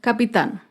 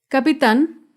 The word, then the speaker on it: capitán: Acá vemos otro ejemplo con la palabra capitán. Capitán es una palabra aguda. Se acentúa en la última sílaba y lleva tilde porque termina en la consonante N. Capitán.